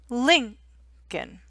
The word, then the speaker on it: Lincoln: stress abraham lincoln lincoln so in lincoln it's lin l i n linkin abraham lincoln okay george